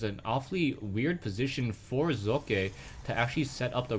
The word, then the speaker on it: Socke: His name is actually German, and I'm trying to pronounce how he actually says his name. I've been told that I pronounce his name well. I've been told that I don't pronounce his name well, but I'm trying to stick to how he actually says his name, which is Socke.